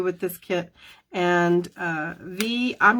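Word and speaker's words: Vy: on YouTube too and her name is V but it's spelled v-y so it looks like bye by Tran and or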